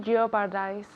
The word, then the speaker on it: jeopardize: Okay, so je je jeopardize. So, that O no sirve para nada.